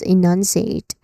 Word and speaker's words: enunciate: Pronunciation wise you start with a long e sound. So e nan then non which is a stress syllable which has a um short vowel sound in the middle. So you say it with more emphasis nuns and then c which has a long e vowel sound and then eight which sounds sounds like the number eight. Okay. There's a dip thong sound here. So you say it is enunciate again.